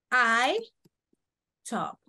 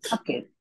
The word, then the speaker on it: talked: I talked. ¿Cómo se pronuncia esta? ¿Cuál es la letra final? Like it. Talk it. Talk it. No, la E no se pronuncia.